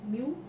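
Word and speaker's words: μ: So mu, which is the refractive index, it is pronounced as mu.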